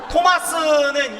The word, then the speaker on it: 토마스: 오신 분들도 많고 보면 외국에서 끝에 S자는 우리나라는 시옷에 을을 붙여서 스라고 얘기를 하지만 갸널 발음으로 보면 이렇게 하고 마는겨. 이렇게만 하면 되는겨. 그래서 토마스는 성토마. 제 스자 했쇼 안 했쇼? 허긴 했는데 안 들리게 한겨. 그 정도로 스자는 중요하지 않아. 그냥 토마라고 해도 되는겨.